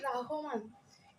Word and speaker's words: রহমান: তো আমাদের কবিতা হলো ফেব্রুয়ারি 1969, লিখেছেন শামসুর রহমান। শামসুর রহমান না, এমসিকিউতে যখন আসবে হয়তো শামসুর রহমান থাকবে, রহমান থাকবে। আমরা ভাবি যে রহমান আবার হয় নাকি, হবে রহমান, কিন্তু না, এখানে হবে রাহমান।